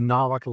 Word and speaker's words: Nahuatl: Um an exception to that would be the Nahuatl language which has only been in Central Mexico since the 1300s.